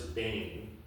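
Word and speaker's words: בֵּן: The Hebrew word is bane. Some little funny Hebrew symbol, not spelled that way, but that's the phonetic pronunciation for it.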